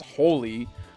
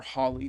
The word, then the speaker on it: Holy: She has She has holy, the best magic in all of Final Fantasy or Holly, depending on how you want to pronounce it.